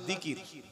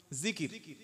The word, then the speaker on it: জিকির: উপরে, বিষয়টা হচ্ছে আল্লাহর জিকির। কি নাম বললাম? জিকির। জাল, কাফ, র, তিনটি অক্ষরে একটা শব্দ জিকির। বাংলায় থেকে হলে হবে অন্ত্যেজ্য হস্যই, কয়হাস্যই, র, জিকির। এটা বাংলায় আরবির উচ্চারণ, আর অর্থ হলো আল্লাহর স্মরণ।